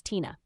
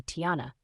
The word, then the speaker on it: Tina: It's pronounced exactly how it looks. It is not a hard name. But for some reason, a handful of people at work insist on calling me Tiana. Tiara or Tia.